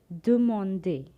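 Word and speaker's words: demander: which means to ask do monday there are three syllables do monday to ask ninth one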